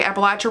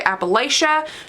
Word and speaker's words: Appalachia: I will say they do say Appalachia wrong. If you say Appalachia, you're saying it wrong. Get your life together. It's Appalachia.